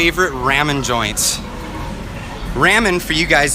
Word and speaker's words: ramen: ramen joints.